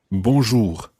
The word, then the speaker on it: bonjour: sound for bonjour now there's also this strange r at the end for english native speakers they are at the end of bonjour is quite tricky to pronounce and we'll be spending